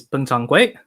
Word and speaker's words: Peng Changhui: is his name is Peng Changhui. He's a person from Hunan. And the Hunan pronunciation of his name is Peng Changhui.